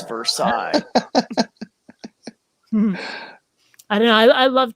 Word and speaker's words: Versailles: diana will always lose that if you save her sales hmm oh wow i'll have to remember that because it's versailles i don't know i love telling the story